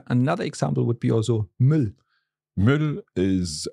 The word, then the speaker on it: Müll: Yeah, another example would be also Müll.